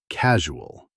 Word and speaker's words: casual: Word number one, casual. It means relaxed, informal, and unconcerned. For pronunciation, focus on the soft "zh" sound in the middle.